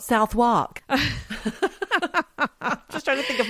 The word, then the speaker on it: Southwark: Southwark, not Southwark.